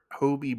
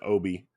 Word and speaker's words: Hobie: his name is Hobert Hobie Brown okay yeah that's his name yeah every time I kept hearing some of the other characters say his name I thought they were saying Obie yeah no I I